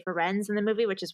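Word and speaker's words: Firenze: many different like i've it's really half and half people who say friends and say frenzy so i just wanted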